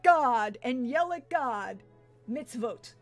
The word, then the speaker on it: mitzvot: and yell at God mitzvot mitzvot oh thank you I was putting the wrong emphasis on the wrong syllable but again my my